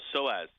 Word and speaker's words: psoas: a what injury a psoas injury oh psoas yeah whatever the p is silent it's like pneumonia so as is a